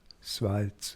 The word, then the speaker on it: Schwarz: But in German they have no T before. It's Schwarz with like.